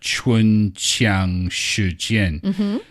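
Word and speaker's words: 唇枪舌剑: It is pronounced chun qiang she jian.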